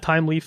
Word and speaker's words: Thymeleaf: Well, I'm saying it so you understand how it's pronounced if I'm saying it out loud. So anyway, just so you know, that's how the official people at Thymeleaf say that it should be pronounced.